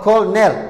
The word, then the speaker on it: colonel: wixii la mid ah silent o owdu waxay ku aamustaa eragan keliya oo ah colonel cornelki colonel ayaa la leeyahay owdaas dhexa laguma dhawaaqayo silent b bida aamusan